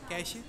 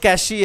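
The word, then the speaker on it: cache: we should learn neutral accent anybody wants to pronounce Rahul first hand Rahul wait catchat cash cash cashh cash cash this is Cash Cash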